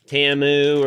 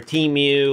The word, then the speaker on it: Temu: shop like a billionaire TAMU or teu whatever you want to call it I think they pronounce it TAMU on the television everybody I knew calls it teamu so whatever you want